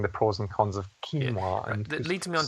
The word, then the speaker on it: quinoa: And you pronounced it quinoa, is that right? Yeah, that's how I pronounce it. See, is it quinoa? Sorry, it's quinoa. Yeah, that's what I thought it was.